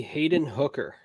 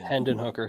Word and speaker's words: Hendon Hooker: it's all white somewhere number four give me Hayden hooker hendin hooker Hendon hooker sorry how do you spell Hayden I want